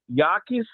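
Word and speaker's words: Jacas: And Gabe Yakis, I hope I'm saying that right. I think the J is silent.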